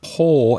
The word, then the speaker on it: paw: is strange yeah and the pronunciation of poor is a long vowel sound the same as the past of c which is sore and poor i saw